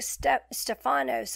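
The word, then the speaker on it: Στέφανος: Stephen, the Greek Stephanos, I think is how you say that, meaning wreath, crown, or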